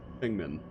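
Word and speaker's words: Feng Min: So, Fengmin, which I have been told is the correct pronunciation of her name.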